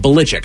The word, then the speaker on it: Belichick: We called him Belichick forever, but it's actually like Belichick, I think is how you say his last name.